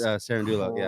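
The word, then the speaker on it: Cerúndolo: Is that pronounced his last name? Sarendulo. Yeah. Sarendo or whatever but that's Sarendulo. Crazy 18 of the last 20 points.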